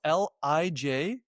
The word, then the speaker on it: Lijden: It's spelled Lijden. It's pronounced exactly the same way, Leiden, but we spell it differently.